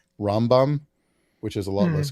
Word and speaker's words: Rambam: the pronunciation if you're Jewish reading it in Hebrew like with the how Jews pronounce it would be rambom which is a lot